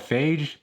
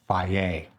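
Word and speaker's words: Fage: Back in the day, I used to call it Phage. They're like, no, it's pronounced Faye.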